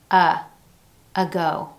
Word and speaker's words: ago: Instead of enunciating an A sound, as in the words day, may, say, we hear schwa at the beginning of these. Ago, atone, away.